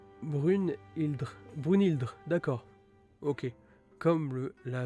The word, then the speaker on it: Brynhildr: Brynhildr, pronom Brunhildr.